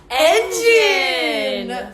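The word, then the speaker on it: ENGENE: here and it is engine spelled e-n-g-e-n-e yes so there's is this a dublin tundra but um yeah it's pronounced like engine because you know the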